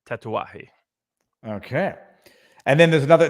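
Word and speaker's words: Tatuaje: the Miami operations it's spelled tattoos it's uh pronounced tatawahi okay and then there's another there's a two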